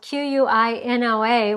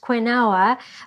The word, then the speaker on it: quinoa: to show you how to make quinoa quinoa is spelled q-u-i-n-o-a which would make you think that it was pronounced quinoa but it's actually pronounced quinoa and I'm like